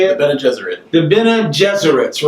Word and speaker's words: Bene Gesserit: The Bene Gesserit.